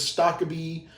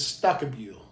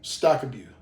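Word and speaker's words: Stokkebye: his last name, because everybody says Stockabee or Stockaby, etc. And he informed me that the proper way is Stockabue. And I'm probably butchering that as well, but he did say Stockabue. So if that sounds weird, I'm only saying it in an attempt to say it properly per his instruction.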